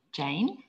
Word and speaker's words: Jane: My name is Rhymes with Rain, Jane.